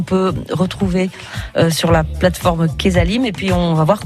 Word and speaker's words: Quezalim: de ce qu'on peut retrouver sur la plateforme Kesalim, et puis on va voir comment ça fonctionne aussi. Kesalim, je le rappelle, ça s'écrit Q-U-E-Z-A-L-I-M.